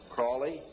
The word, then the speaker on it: Crowley: learned about with Aleister Crowley he likes to have his name pronounced Crowley to rhyme with holy and the Satanists today